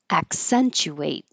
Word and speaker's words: accentuate: Accentuate. This ch can also be ch because it's not stressed. Accentuate or oo. Accentuate.